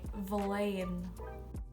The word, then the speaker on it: bhliain: So if you are from 1 to 2 years old or your age ends in 1 or two, you say valain.